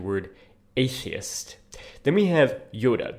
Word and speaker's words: Iota: then we have Yoda this is not by the way Iota as we um tend to transliterate that into Modern English oh not an iota of this or that was missed it's actually Yota as I recall um so